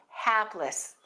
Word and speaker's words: hapless: Big sound, and we stress the first syllable, hapless.